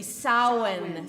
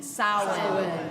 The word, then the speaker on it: Samhain: this word, and none of them have an M sound in them, and yet the word is spelled with an M. So everybody say it with me. Samhain. Samhain. Good. It is the Celtic pronunciation of the word, and it refers to